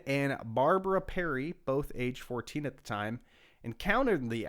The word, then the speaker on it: Fortean: a story for the 14 Times, which is spelled FORTEAN, so not like the number 14.